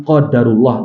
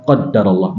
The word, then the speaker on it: qadarullah: apa yang dia kehendaki maknanya sama hadirin hanya beda cara pengucapannya saja dan kalau para ulama mereka lebih menyukai ucapan qadarullah daripada qadarallah meskipun dua-duanya bisa kita gunakan dalam ungkapan kita sehari-hari Rasul mengajarkan kepada kita